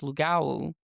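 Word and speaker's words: lougawou: It's pronounced Lugawu.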